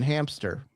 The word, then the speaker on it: hamster: Um, I found out there is no P in hamster.